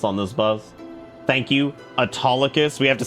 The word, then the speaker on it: Autolycus: Thank you, Autolycus.